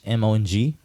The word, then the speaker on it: Hmong: But anyways, there's a silent H in Hmong, so it's Hmong.